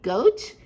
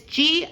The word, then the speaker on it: Goethe: Is it pronounced goat? It's Goethe.